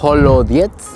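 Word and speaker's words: холодец: Se llama holodiets. Me dijeron que es la pronunciación en ruso.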